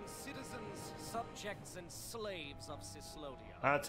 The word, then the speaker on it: Cyslodia: Attention, citizens, subjects, and slaves of Cyslodia. That's how you pronounce it.